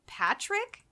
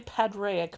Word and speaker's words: Padraic: I like that her name is this beautiful, Aja, and then his name is Patrick, the vampire? It's actually Padraic, but I wasn't sure how to pronounce it, so I cheated.